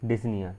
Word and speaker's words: dyspnea: अपना आज का टॉपिक disneya ठीक है कोई इसको डिस्प्यूट नहीं पड़ता भाई ठीक है इसमें जो पी होता है बेटा वो साइलेंट होता है इसलिए अपन इसको disneya पढ़ते हैं ठीक है इसकी डेफिनेशन